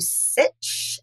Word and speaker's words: Sitch: So, if you are on the interweb as my pop calls it, uh if you go to Sitch, sit titch rhymes with Burich.